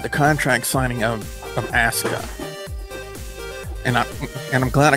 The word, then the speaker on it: Asuka: as U Ka a I thought it's kind of like Asuka or something like that but apparently it's ASA was the proper pronunciation and she seems to